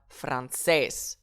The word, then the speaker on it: francés: un accent déjà écrit, donc je vais donc indiquer mon accentuation directement sur cette lettre, en l'occurrence le E, et on dira francés, francés.